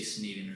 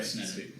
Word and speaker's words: Sneddon: Most people say Sneddon or something, so you got it right. I got it right. Sneddon.